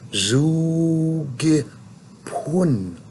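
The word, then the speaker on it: zoogipon: Zugi pun. It's spelled pon, but it's pun.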